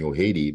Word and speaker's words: Ojede: So I have a lot of my Latino friends always call me Ojede, but that's fine.